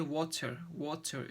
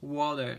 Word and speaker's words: water: So the flap T I sometimes described as a soft D sound. That's like in word water. So so people usually say water, yeah.